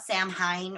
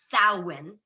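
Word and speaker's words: Samhain: in places and they'll call it Sam Hein or Sam Hayne it's Gaelic so it's actually salwin so almost like you're saying s-o-w-e-e-n saline I'm not gonna repeat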